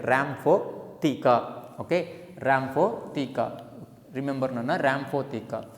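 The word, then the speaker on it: rhamphotheca: Correct pronunciation, Rhamaphotheca.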